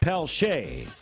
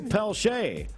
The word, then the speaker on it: Peltier: I mispronounced a name, and I apologize for that. It's Gary Peltier. Spelled Peltier, but Robbie Wetters tells me he's I believe, from Louisiana. So he's Gary Peltier.